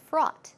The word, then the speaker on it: fraught: fraught with danger now what's the word fraught if our au ght pronunciation is fraud fraud fraud fraud with something means